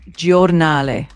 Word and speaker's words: Giornale: So that word is pronounced giornale.